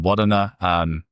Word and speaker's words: Wudinna: And then Wudinna, pronounced quite correctly, it is our first acquisition as a public company.